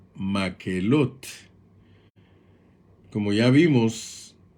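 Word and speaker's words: מקהלת: más elote que en el idioma hebreo se pronuncia maquelotte como ya vimos y podemos ir notando hay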